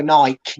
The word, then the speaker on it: Nike: and they called them Nike, and I was like, "What you mean, Nike?" I'm afraid. Spelled Nike, so Nike, not Nike. It's not got a dash in it to pronounce these separately.